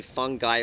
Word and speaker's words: fungi: this documentary fantastic fungi some say fungi but i guess it's fungi uh to me when